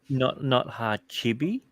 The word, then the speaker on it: Hachibe: Hachibe, Hachibe, Hachibe, that's how you pronounce it.